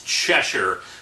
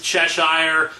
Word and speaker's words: Cheshire: are fighting and yes I know the proper pronunciation is chesher but it's just I've been saying it for years is Cheshire so I'm kind of stuck with it her